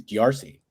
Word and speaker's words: D'Arcy: And Mayhem mispronounced his name in the press conference after. And he's like, yeah, he got me with one of them Darce chokes.